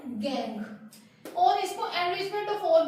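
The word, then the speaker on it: gangue: इसकी प्रोनाउंसिएशन है गैंग।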